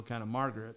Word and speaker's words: Marguerite: But I listened to her pronounce her own name, and she said a guy said Margaret, and she said it just like Americanized, kind of Margaret, which it's not quite Margaret, but, I guess you could say Margaret Henry then.